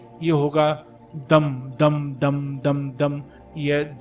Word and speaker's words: दं: बीजमंत्र का उपांशु जप करें यानि इसका जो उच्चारण का यह होगा दम दम दम दम दम यह द के बाद